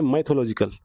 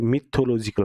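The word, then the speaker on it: mythological: ये माइथोलॉजिकल, ठीक है? मिथोलॉजिकल, माइथो, हम बोलते हैं इसको माइथो, ठीक है? लेकिन ये माइथो नहीं होता, ये मिथोलॉजिकल होता है, मिथोलॉजिकल।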